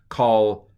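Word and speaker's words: כָּל: stirred Cole uh Co that's a kamat short o call ha you know it's a kamat because Cole normally has a a long o vowel when it's by itself so the Maka makes it short sucks the air out of it and it goes into a short o looks it's right it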